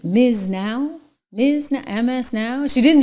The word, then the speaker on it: MS NOW: It's like Miz now.